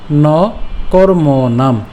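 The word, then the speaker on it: কর্মণাম্: ন কর্ম নাম, আমরা এখানে ম নাম পর্যন্ত উচ্চারণ করলাম, অর্থাৎ ম হসন্ত পর্যন্ত উচ্চারণ করলাম।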